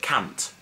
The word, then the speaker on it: cant: Well, 100 is cant. No, not can't, but cant.